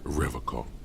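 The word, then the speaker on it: Revachol: He pronounces Revacol with a hard K, unlike other people. Revacol. I like to pronounce it the hard way, the old way, the Vespertine way.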